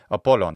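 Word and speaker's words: Απόλλων: of it so poon how do we say this with a modern Greek pronunciation well just take away the geminate sound of the Lambda and you get apollon and there you go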